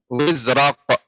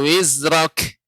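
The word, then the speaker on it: وِزْرَكَ: Nah, Ibu untuk kaf bukan menjadi kof. Kalau kof wizraq. Kalau wizraq nah begitu. Ini menjadi kafnya jadi kof. Tidak seperti itu pengucapannya, akan tetapi diberikan sifat kaf. Itu apa ketika sukun? Hamus. Berarti pengucapannya anka wizrak.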